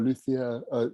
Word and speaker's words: luthier: that correctly michael uh lutie or luthier that's probably the anglo-science version of it okay because i was